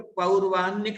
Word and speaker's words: पौर्वाह्निक: कर रहे हैं तो पौर्वाह्निक शब्द का उच्चारण करें। पौर्वाह्निक, ना को ना हो जाता, रा पहले हो तो पौर्वाह्निक, ना को ना हो गया यहाँ।